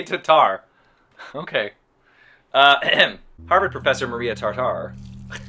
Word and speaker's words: Tatar: Harvard professor Maria Tartar, I don't know how to say her name. That seems bad, right? Maria Tartar filmed interview. Hang on, guys, sorry. Record holder, Maria Tatar. They say Tatar.